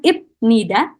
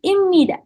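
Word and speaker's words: 입니다: Jadi di sini cara bacanya bukan ibnida, teman-teman. Cara bacanya adalah imida.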